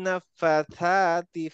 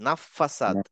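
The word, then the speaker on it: نفاثات: এই ফিল উকাদের আগে যেটা ফাথাত, আমরা একদিন বলতাম ফাসাদ, নাফাসাদ। আসলে বলতাম কারণ হচ্ছে এটাকে আমরা সিনের মতো উচ্চারণ করতাম, এই জন্য। আসলে সিন না, এটা হচ্ছে থা। তাহলে নাফাথাত। নাফাতা।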